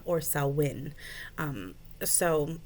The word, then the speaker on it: Samhain: selwyn and it's spelled s-a-m-h-a-i-n which looks like it said uh samhain but it's actually pronounced uh pronounced salwen or selwyn um so it's a